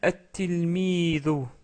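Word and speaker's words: التلميذ: connaissez, c'est un élève, on rajoute le L et ça devient at-tilmidu. At-tilmidu.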